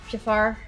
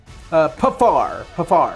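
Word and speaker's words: Paphar: Who is within 30 feet of this, how the hell is it pronounced? Pifar? Pafar.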